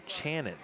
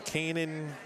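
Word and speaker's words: Canan: I was talking about Mr Dempsey it's actually pronounced Shannon like ch or Shannon except for the uh the CH instead so Channon but if you look at it obviously on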